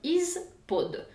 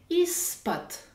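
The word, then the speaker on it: из-под: Si on regarde en détail, cette préposition s'écrit avec un « i », un z, un p, un o et un d. Is pod. Mais je dois prononcer is pot.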